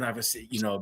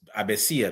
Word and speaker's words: Avecilla: And if I see a name like that, I'm like, okay, it's Avecilla because you pronounce the V as a B, and the L is like you pronounce the 2 L's as yeah.